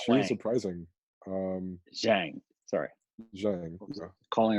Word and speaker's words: Zhang: I mean, Lily Zhang, however her name is properly pronounced. Yeah, she Oh, was not she was Wang. surprising. Um, Zhang. Sorry. Zhang. I was Yeah. calling her Lily, Wang. Zhang. it's not Wang.